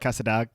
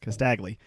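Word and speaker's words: Casdagli: much information about it, but it looks like Casadagli. Castagli. You know how to say it. Thank you. Castagli.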